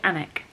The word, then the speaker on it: Alnwick: to ellenoric anik elwick it's got an owl i don't know if you pronounce the al anik i want to say anik i'm meeting up with